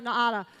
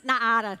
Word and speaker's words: Naara: And by the way, that is how you say it, because in Brazil, they drilled me until I said it correctly. Don't listen to any American that says it's called Naara.